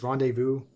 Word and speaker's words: rendezvous: Also, I don't know why I keep saying rendezvous. Isn't it just rendezvous? I've been pronouncing it wrong this whole time.